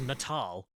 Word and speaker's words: Natal: your children in the head oh wait it's pronounced natal there you go dumbest thing I've ever heard